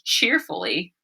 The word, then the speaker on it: cheerfully: It was cheerfully. Cheerfully. And it has that E sound at the end. That Y at the end makes the E sound at times. It can also make the I sound.